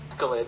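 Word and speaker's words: Askeladd: I'm not gonna try to pronounce it. It's Scandinavian. Escalade? Askelid.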